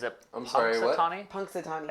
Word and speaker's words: Punxsutawney: Punxsutawney. It's not with an Zoom L? tight. See what he did there? It's not with an L. It's not plunks.